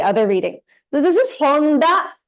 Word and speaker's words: Honda: Honda also it is pronounced as DA only. Honda. Yes, da. Whereas in Tanaka, it's ta, right? Yeah. So here it's Honda, always da. It'll never be Honta.